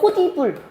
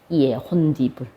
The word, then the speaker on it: 홑이불: 그 다음에 이불인데, 그러면 연음되면 원래는 어떻게 소리가 나야 돼? 원래는 홑이불. 이렇게 소리가 나야 돼. 홑이불. 자, 근데 홑이불로 소리 안 나거든요. 우리가 생각한 대로 발음이 안 나면 뭔가가 끼어 들어간 거야. 뭐가 끼어 들어갔냐면 여기에 첫 번째 니은 첨가가 일어납니다. 자, 그리고 이 니은 첨가 때문에 이 디귿이 뭐가 일어나? 비음화가 일어나. 자음동화가 일어나. 그래서 얘 표준 발음은 홑이불이 아니고 뭐야? 혼디불이에요. 혼디불.